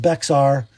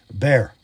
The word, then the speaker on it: Bexar: It is a bear. Somebody from Texas told me that's how they say it, so I'm going to keep saying it until somebody tells me it's wrong. And then you can all laugh because I believed it. Not Bexar, bear.